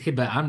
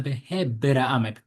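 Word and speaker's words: בהבראם: Therefore, when the pasuk says "Ele toledot hashemayim va'aretz behibaram," I'll take it behibaram. Don't pronounce it as hibaram. Rather, ele behibaram.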